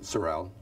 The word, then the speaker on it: Seraile: be interviewed for historical accuracy would you kindly pronounce and also spell your full name Sorel s-e-r-e-i-l-e thank you so I was hoping that